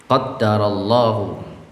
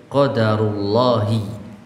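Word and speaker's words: قَدَّرَ اللهُ: Jadi qaddarallahu, jadi kalau kita mau mengucapkan qaddarallah, ya dengan cara seperti ini, qaddarallahu. Atau kalau tidak dengan mentasydid huruf dal, qadarullahi. Nah, qadarullahi atau qaddarallahu.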